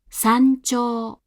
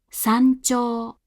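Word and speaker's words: 山頂: Thus, before chi and ji, the hatsuon is articulated like this, as a pre-palatal nasal. Try listening to a few examples of this now. 山頂、山頂、山頂。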